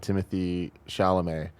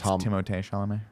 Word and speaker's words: Timothée Chalamet: But I had a dream that for some reason I thought about Timothy Chalamet and It's Timothée Chalamet. Timothée. Who is Timothée Chalamet? That's how you say his name.